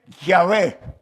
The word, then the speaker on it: Yahvé: Y más o menos la pronunciación es Yahvé.